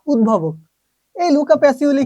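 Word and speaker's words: Pacioli: সেই পাগলটাকে Luka প্যাসিওলি। এটাও আছে, আবার প্যাসিলিও আছে, তবে এটাই অ্যাপ্রুভ না। প্যাসিওলিটা হচ্ছে অ্যাপ্রুভ, এটা একটু মাথায় রাখেন।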